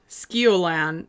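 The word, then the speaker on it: Sceolan: Skiolan is really hard to say because it is spelled S C E O L A N.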